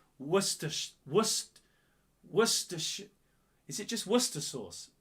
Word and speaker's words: Worcestershire: It's not Worcester. It's not Worcester sauce. You don't call it Worcester sauce. It's Worcestershire.